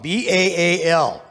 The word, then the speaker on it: Baal: That's where we get the name Baal from, B-A-A-L. Different people pronounce it different ways. I believe it's Baal.